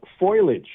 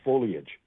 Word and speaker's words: foliage: Uh foilage is a big one. A lot of people talk about foliage and say foliage instead of foliage.